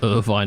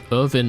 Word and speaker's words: Irvine: shabby what the hell Irvin Irvine the name is pronouncedly to Irvine the town there's probably loads of